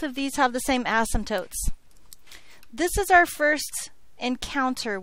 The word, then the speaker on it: asymptote: number one number one we are not going to unnecessarily stress the first syllable of the word asymptote okay number two we're